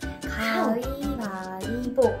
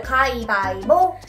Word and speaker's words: 가위바위보: 가위바위보. So, we sounds more like E instead, is that right? Uh-huh. But it's not like strong E, just soft E. So, 가위바위보.